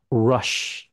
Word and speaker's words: rush: Chữ này là rush. Nó lại đi. Rush. Right. Môi, cái môi cho cái hơi ra, đừng có khép môi lại.